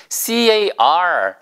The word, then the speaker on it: car: 예, 보여드린 이 단어 C-A-R, 차라는 C-A-R 할 때 우리가 차량이라고 할 때 차, 운전하는 차 그때는 car죠, car. 그러니까 쉽게 얘기하면 그냥 크 발음이에요, 그렇죠? 예, 그래서 키읔 발음입니다. 예, 크 소리가 나요.